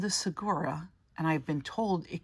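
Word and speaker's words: saguaro: be over 200 years old so wore it's pronounced there's no good sound in it even though there's a good in it sawora a cactus you see has deep pleats in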